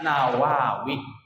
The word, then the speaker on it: Nawawi: Kalau Syekh Nawawi enggak pakai alif lam, langsung nun saja, ya, diawali dengan huruf nun, dibacanya Nawawi.